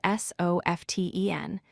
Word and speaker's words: soften: The word soften is spelled S-O-F-T-E-N, but we pronounce it as soften, dropping the T sound.